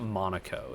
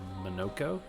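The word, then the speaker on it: Monoco: Is it It's not Monaco. It's It's Manoko.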